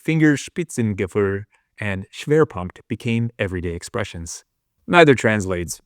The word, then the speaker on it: Schwerpunkt: As Boyd studied German tactics, words like Fingerspitzengefühl and Schwerpunkt became everyday expressions.